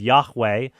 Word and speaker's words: Yahweh: So we have Yahweh, the traditionally assumed pronunciation of God, replaced with the vowels for Adonai.